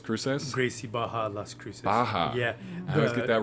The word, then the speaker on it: Barra: Baja. Yeah. I always get that wrong. The double R is pronounced like an H in Portuguese.